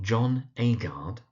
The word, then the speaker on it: John Agard: We've got John Agard.